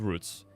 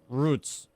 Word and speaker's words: routes: This isn't routes, okay? It's roots.